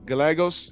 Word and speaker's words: Gallegos: Manuel Gagos. You Gos, that's how you say his name in Espanol.